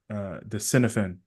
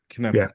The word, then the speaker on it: Cynefin: I only know of Dave from his the Cinefin. Is that how you say it? The Kinevin. Cinefin model. Kenevin, Yeah. Kenevin. I keep saying That's Welsh. something. It's very hard to say.